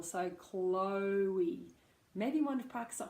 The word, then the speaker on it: Chloe: Now this can be tricky because phonetically you have a k. This is how we'd write it in phonetics. Not it's not that I just can't spell. A k and an l together, and then followed by o.